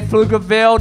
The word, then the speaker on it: Pflugerville: When I say Pflugerville, the P is silent. Thank you.